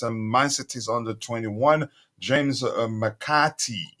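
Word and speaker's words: McAtee: about Chelsea's interest man City's under 21 James mcti y That's how you pronounce his name Bologna's comments on um cfii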